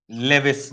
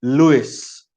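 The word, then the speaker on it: Lewis: दिया था कॉसेल और लेविस ने। कॉसेल साइंटिस्ट है और दूसरा साइंटिस्ट है लेविस, अदरवाइज लुइस। लिखा जाता है लेविस, मगर उसका प्रोनाउंसिएट किया जाता है लुइस, है ना?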